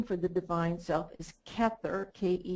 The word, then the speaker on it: Kether: there the name for the Divine self is kether ke t h e r and the very